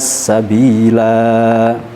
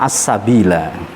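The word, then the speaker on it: السبيلا: Begitu juga pada lafadz as-sabila. Yang seterusnya lafadz as-sabila sudah ada di atasnya. Jika waqaf lanya tetap panjang, jika wasol lanya dibaca pendek.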